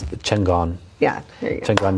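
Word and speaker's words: Chingón: Chingon. But how do you say it? You say it all nice and proper. Well, see, now I'm going to say it wrong. It's Chingon.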